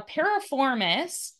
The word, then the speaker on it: piriformis: exactly that is um now parap foris is how you pronounce the name of that muscle and it is this